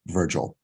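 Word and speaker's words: Vrgl: just four letters vrg L but spelled but pronounced Virgil they do a cool thing they do state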